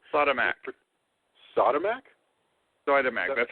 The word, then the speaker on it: Siodmak: I'm going to say Siodmak.